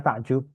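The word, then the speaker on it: تعجّب: Ta'ajjubun. Ta'ajjubun. Nah, kita bilangnya takjub, ya kan? Oh, ta'ajjub. Ta'ajjubun. Nah, kita bilangnya takjub, itu asalnya ejaannya ta'ajjub.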